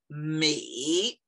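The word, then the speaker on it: 每: So each is pronounced, not harta, each. Each is pronounced mei.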